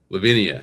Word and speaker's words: Levinia: Levinia, you got it.